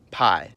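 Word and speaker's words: П: I remember how to pronounce it by noticing its resemblance to a perfect, peaceful staple.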